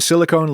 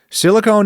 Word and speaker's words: silicone: The difference is the silent E at the end of silicone that tells you to make a long O sound instead of a short one.